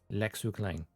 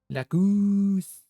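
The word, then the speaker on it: Lacus Clyne: lacus CL that is the original English Japanese Lau clang like La Lau new dub Lau Goose it sounds more like Goose like Goose you like drag out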